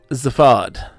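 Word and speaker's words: Zaphod: molecular hyperwave pincer i nick his name is pronounced zafad as a vod like a tattoo don't save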